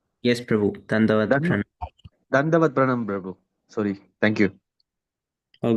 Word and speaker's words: Dandavat Pranam: Dandavat Pranam, Prabhu.